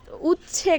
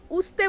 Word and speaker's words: উচ্ছে: আর এই দেখো এখানে যে উচ্ছে গাছ ছিল উচছে গাছ। আসলে আমরা তো উচতে বলি। কিন্তু এটা হবে এপ্রোপ্রিয়েট উচ্চারণ নাকি উচ্ছে।